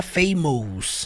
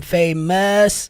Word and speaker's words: famous: que você vai cantar famous, não é famous. Som do us famous. I'm feeling like I'm famous.